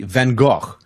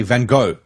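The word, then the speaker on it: Van Gogh: tour guide said to us at least say vano but no the Americans they say van go yeah van go yeah that's American way man I didn't know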